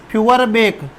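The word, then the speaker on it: Feuerbach: वह दूसरे का नाम था फ्यूअरबेक, जिसको फ्यूअरबाक भी कहते हैं, फ्यूअरबाक। ठीक है मेरे दोस्तों, फ्यूअरबेक या फ्यूअरबाक एक ही है, उच्चारण होता है।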